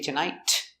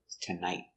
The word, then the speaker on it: tonight: And don't forget the stop T at the end of tonight. We don't say tonight. We stop the air with tonight.